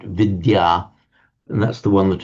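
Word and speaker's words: विद्या: So vidya the and the y pronounced separately in Sanskrit vidya and that's the one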